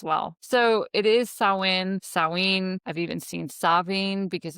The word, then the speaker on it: Samhain: So it is not Sam Hayne, contrary to supernatural, the TV show.